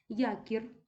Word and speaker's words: якір: наша улюблена мішана група Якір м'яка група знову ж таки не падає наголос на суфікс падає на корінь і м'яка група Друга